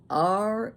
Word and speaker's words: realtor: R-E-A-L-T-O-R. Realtor. It's not realtor. There is not an extra A between those syllables. Realtor. You've hired a realtor, not a realtor.